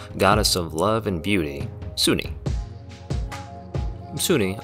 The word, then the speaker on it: Sune: of love and beauty sunni sunni otherwise pronounced as soon or sunni in my experience is the forgotten realms